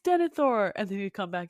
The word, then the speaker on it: Denethor: the teams, were like, actually, it's pronounced Denethor.